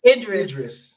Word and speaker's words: Idris: Is it pronounced Idris? Idris.